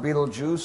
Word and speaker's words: Betelgeuse: Then there's Betelgeuse. Pronounced Betelgeuse, spelled Beltegeuse. Betelgeuse, the gigantic star in the shoulder of Orion.